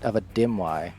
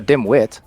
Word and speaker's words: Dimwi: haven't heard of a Dimwi. He's heard of a dimwit. Dimwi. So I said it wrong again anyway. That's a common misconception. Most people think I took the T off my name.